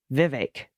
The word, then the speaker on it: Vivek: Swami was good but Vivek Rhymes more with bake than heck Vivek all right and there's an equal emphasis on both syllables this is a general